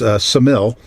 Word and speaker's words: Ksamil: So we headed on a little bit further south through town, which is Ksamil. It starts with a K, but it's like knife. The K is silent, apparently.